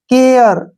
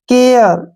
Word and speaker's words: care: RE, ठीक है ना, तो ए का जो उच्चारण है वो ए और ए के रूप में करेंगे। जैसे केयर, ठीक है ना, ए